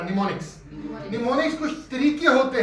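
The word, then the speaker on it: mnemonics: निमोनिक्स। क्या बोलते हैं? क्या बोलते हैं? निमोनिक। इसमें एन साइलेंट है, ठीक है, इसमें मिनोमिक नहीं पढ़ा, निमोनिक्स।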